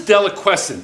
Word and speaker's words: deliquescent: What is deliquescent? That's actually a very nice pronunciation of that word. It's actually pronounced deliquescent.